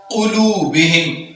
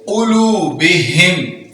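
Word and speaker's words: قُلُوبِهِمْ: अला क़ुलूबिहिम, क़ाफ है दो नुक्तों वाला और इसको पूर पढ़ेंगे क़ुलूबिहिम।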